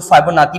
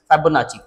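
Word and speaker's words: Fibonacci: ये इसको लोग फाइबोनाची भी पढ़ते हैं लेकिन एक्चुअली ये जो टर्म है इसकी जो प्रोनाउंसिएशन है दैट इज फाइबोनाची।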